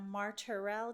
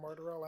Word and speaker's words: Martorell: We have Jeremy Martell. Did I pronounce that correctly?